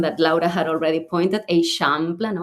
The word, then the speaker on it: Eixample: this neighborhood with this kind of like tricky pronunciation that Laura had already pointed, Eixample, no, Eixample.